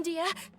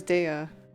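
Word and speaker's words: Dehya: find us now wait stand down dia Dia that's how you pronounce her name I thought it was DEA my lady who are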